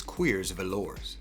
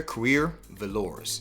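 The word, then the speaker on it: Cuir Velours: gooder and this is que's velour Naomi gooder queer velour I said the name wrong the first time no s on queers so what is this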